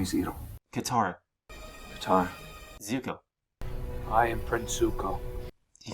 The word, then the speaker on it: Zuko: Zuko is Zuka.